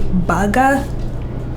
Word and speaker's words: burger: The way we pronounce this would be baga. Baga? Yes, Like baga. cheeseburger. Yeah. Baga. Baga. Well, it's a burger. Of course, although if you were British, you would say burger.